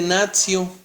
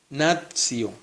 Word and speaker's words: natio: luego nacional viene de natio. Recuerda que ¿cómo se lee esta palabrita en latín? Recuerda que la T seguida de I y de otra vocal se pronuncia como TS. Natio.